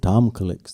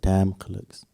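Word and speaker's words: Tamkaliks: They pronounced it Tom Clicks. They didn't pronounce it Tam Clicks.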